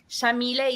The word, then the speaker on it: Yamile: So Yamile is an Arabic name pronounced with an Argentine accent. We say the Y like an SH.